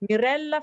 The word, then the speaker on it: Mirella: you need to read you need to exaggerate the l okay so now the next person to read this can i choose to think there is a double consonance here also so mirella yes mirella frenia so there's a very